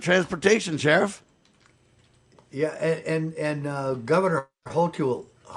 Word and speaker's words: Hochul: Yeah, and Governor Hochul, how do you say her name? Hochul, in New York is begging rich or whatever people to come back.